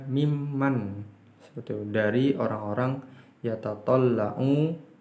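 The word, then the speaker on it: مِمَّن: Ini min man, bacanya mimman.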